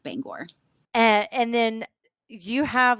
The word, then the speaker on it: Bangor: uh correct me if I say it wrong Bangor yes absolutely so what I'm finding is they